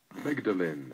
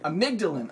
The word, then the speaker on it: amygdalin: by by insufficient consumption of here's how you pronounce it hang on amygdalin amygdalin okay so according to the author of jaal